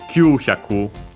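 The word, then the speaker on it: 九百: And the one we have here, Q-hyaku. All these are accent on the first moras.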